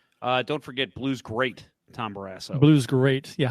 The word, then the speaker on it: Barrasso: No, I love Tom Barrasso. Actually, I remember as a kid. You pronounced it wrong. I guess what? You pronounced his name wrong. It's Tom Barrasso.